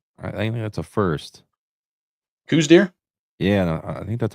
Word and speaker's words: Coues: Some people call it cows because I think the person who found was actually his name was pronounced cows. Oh, really? But like the Americans that we are, we butchered it and call it Coues deer now, so it's fine.